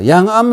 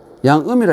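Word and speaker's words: 諒闇: 암자라는 글자는이 이렇게 쓰지만 음자를 썼지만 이것을 아 발음을 암이라 읽어야 돼요. 예. 양음이라 읽는게 아니라 암이라.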